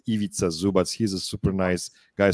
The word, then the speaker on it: Ivica Zubac: a role player, but it's Ivica Zubac. I really like that guy. It's really hard to pronounce because it doesn't make any sense, in Anglo-Saxon way of reading the words. Ivica Zubac.